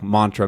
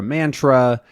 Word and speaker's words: mantra: of these words, but there are a few notable ones, like mantra, mantra, either, either, then neither, neither, aunt, aunt. All of these are totally acceptable pronunciations in pretty much any part of the US.